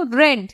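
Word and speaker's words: read: উচ্চারণ কিন্তু রেড, দেখতে রিডের মতন উচ্চারণ রেড।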